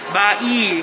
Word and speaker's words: Bai: Ito guys, ang ang pronunciation daw niya ay Hotel Bai. Parang, uy, bai! Bai!